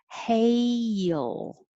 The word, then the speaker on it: hail: your tongue should go very high hey and then it has to come down yeah like and make a y and then go back up in the front for an l hail almost two syllables if you practice it that way in slow motion you know you're getting your tongue in the right position for both parts hail and then you can smooth it together hail hail storm